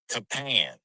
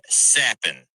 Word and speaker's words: Capan: on your DraftKings lineup it's going to look like it is Frankie capan but it's actually pronounced Frankie sapen and that man is